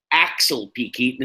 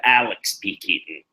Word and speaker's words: Alex P. Keaton: Because she's drunk, she mispronounces his name, trying to introduce him. Axel P. Keaton instead of Alex P. Keaton.